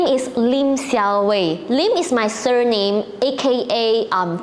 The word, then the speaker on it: Siowei: Let me know if you think this looks like a legit English name and easy for non-Chinese to pronounce. Okay, it's Xiaowei.